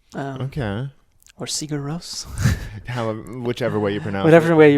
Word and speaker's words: Sigur Rós: mine too but I know that you say Co rose so I'm saying it that way and I